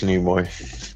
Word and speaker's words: Nimoy: But yeah, I know it's Nimoy. So yeah, they Al's work here is done. yeah. Al has corrected Never. a pronunciation.